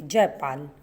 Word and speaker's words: जयपाल: जयपाल. Here it is written जयपाला, बट the pronunciation will be जयपाल.